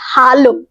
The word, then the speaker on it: Hallo: এবার জার্মান ভাষায় এ কে আ উচ্চারণ করা হয়, একদম আ। তো সেই জন্য আমরা এটাতে বলবো হ্যালো।